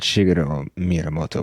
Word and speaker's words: Shigeru Miyamoto: I think what Shigeru Miyamoto was saying, is that how you say it?